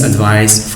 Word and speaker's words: advice: his teachers he needs advice from his teachers okay advice as a noun must be pronounced with c sound not with other sounds now let's move on